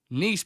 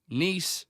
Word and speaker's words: Nice: you for your query nice biscuit were named after the city in the south of France and pronounced the same as that City they have been well